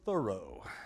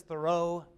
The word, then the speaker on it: Thoreau: this author they will tell you it is Thoreau and in fact there are people from his